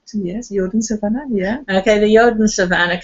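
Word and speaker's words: Jodensavanne: we go to the yoden savan am I pronouncing correct yes yoden savan yeah okay the yoden Savanah could you tell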